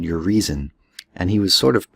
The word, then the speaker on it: Urizen: And so one of his characters, his mythological personalities, is a character called Urizen. And he was sort of punny that way. He made it sound like your reason.